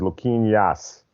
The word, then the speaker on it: Luquinas: If I remember correctly, correct pronounces Luquinas.